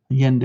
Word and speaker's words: Allende: Allende, there you go, Allende. San Miguel de Allende, Mexico. Y'all, I pronounce Spanish like I'm from Arkansas.